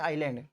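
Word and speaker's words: island: आइलैंड में ये S silent है भाई, द्वीप या फिर टापू बोल दूं मैं इसको, एस साइलेंट होता है, इसलिए इसको बोलते हैं आइलैंड।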